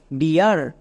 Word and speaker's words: dear: এবার একসঙ্গে উচ্চারণ করো ডি ই এ আর, ডিয়ার।